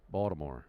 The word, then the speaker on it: Baltimore: If it's said properly, it's kind of a B-A-L-D, Baltimore. Like a soft D? Yeah. Baltimore. Definitely no T.